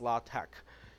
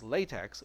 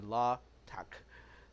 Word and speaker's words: LaTeX: but this actually pronounced la tack because la is actually in the English alphabet but it's tau epsilon Chi in the Greek alphabet so that's why it's not pronounced as latex it is actually la